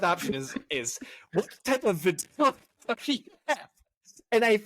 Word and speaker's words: vitiligo: It's vitiligo.